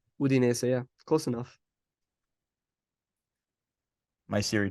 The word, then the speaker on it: Udinese: Udinese, yeah.